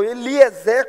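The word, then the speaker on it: Eliézer: de Abraão Talvez seja o famoso Eliéser ou Eliezer como alguns pronunciam em algumas versões aquele que um determinado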